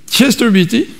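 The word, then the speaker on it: Chester Beatty: un manuscrit qui s'appelle Chester Betty comme ça Robert qu'on prononce Chester Beaty bon 46 il date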